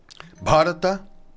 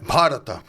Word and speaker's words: Bharata: Bharata. Nossa, é difícil, hein? Bharata. Bharata. Bharata. Sabe o sulino que ele fala? Bate, sabe? Sim, lembrar assim um pouquinho fica mais fácil para pronunciar.